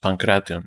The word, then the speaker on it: pankration: It's pronounced Pankration. It's supposed to be 4 syllables.